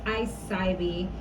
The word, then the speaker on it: I-Cybie: It's I-Cybie. I think I've been saying I-Cybie or something like that, but I'm sorry y'all. Sometimes my pronunciation is a little off because I got so